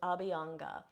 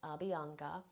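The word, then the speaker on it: Abhyanga: different ideas for this the first one is abanga so this is spelled a BH y a n g a abanga so this is a type of self massage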